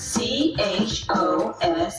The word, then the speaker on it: chose: Now look at the word C-H-O-S-E and see the word so. To pronounce C-H-O-S-E, remember it rhymes with so. C-H-O-S-E. See the so? Now say chose.